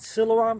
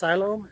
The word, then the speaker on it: Siloam: to silom Springs I was always calling it Siloam Springs but a couple of people have uh told me it's pronounced silom so when I get there and ask I'll